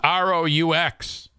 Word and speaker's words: roux: how to say that word how do you pronounce r-o-u-x is that what I'm doing I don't know